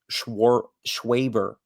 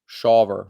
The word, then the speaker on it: Shawver: Obviously, he's gonna play a big impact, or would have played Schwaber, Shawver. Shawver is how you say it.